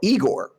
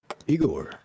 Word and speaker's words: Igorrr: of them at all they spell it with three r's but the reason why that's funny is because it makes the name really hard to pronounce because they're french igor and the french r is like weird to english speakers so uh the first